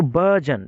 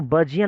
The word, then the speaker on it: burgeon: तो इसको हम लोग BURGEON, इसको बर्जियन नहीं पढ़ते हैं, बर्जन, बर्जन, र भी ना निकले, ब के बाद अ निकले, बर्जन, बर्जन।